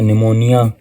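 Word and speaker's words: pneumonia: इसी तरह हमारे पास लफ्ज है निमोनिया। यह भी पी से लिखा जाता है।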